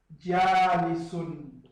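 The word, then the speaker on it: جالسٌ: Tudo breve. Menos na primeira sílaba. Já. Tem que alongar a sílaba por causa de alif.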